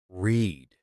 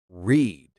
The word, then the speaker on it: read: Go, went, eat, ate, drink, drank, see, saw, take, took, have, had, buy, bought, come, came, sing, sang, read, read, spelled the same, but the sound changes.